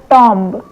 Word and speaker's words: tomb: TOMB मतलब टॉम्ब। टॉम्ब में बी का दफन कर दिया है तो हम इसे क्या बोलते हैं? टॉम्ब बोलते हैं।